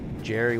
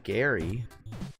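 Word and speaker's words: Gerry: write, they think that Jerry with a G, they don't pronounce the GE sound like a J. They pronounce it like a a G and call me Gary.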